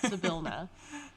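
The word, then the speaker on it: Zybilna: you get hired on by a warlock of Zabilna, I believe. Mm-hmm. Who there is a pronunciation guide in that is how you pronounce which I think is very good. Zabilna.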